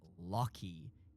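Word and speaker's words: Loki: My name is pronounced Locky.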